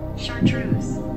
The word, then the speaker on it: chartreuse: things okay I'll actually get the phone to pronounce it for you okay chartreuse chartreuse what color is that please incorrect but